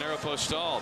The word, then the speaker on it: Aeropostale: If you're looking for this season's hottest styles, hey, get ready for the uh Arch Madness by shopping at Aeropostale.